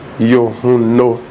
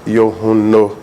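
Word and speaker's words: Yohuno: but it's so simple it is yuno yun no it ends with o so if you can pronounce pronounce the o very well then it becomes yuno yun no yes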